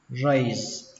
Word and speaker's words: raise: Từ đầu tiên các bạn đọc là raise. Kết thúc bằng âm giờ nhé các bạn. Cách thứ hai dễ hơn, các bạn cho nó kết thúc bằng âm sờ, raise.